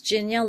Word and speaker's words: Ginia: yes my name is Ginia it's pronounced like Virginia without the ver and I am in